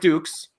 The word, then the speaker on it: Dux: playing the role of Frank Dux and that's how you pronounce it because they even make a joke about it in the movie um and this guy